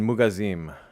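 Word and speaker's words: מוגזים: I don't know why, but pronounced mineralim. That makes sense. Like minerali im. And then mugazim. Mugazim. That's That sounds almost like a passive, right?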